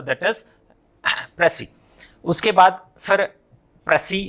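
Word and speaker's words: précis: तो सिंगुलर है तो प्रेसी एंड प्लूरल होगा तो प्रेसिस हो जाएगा।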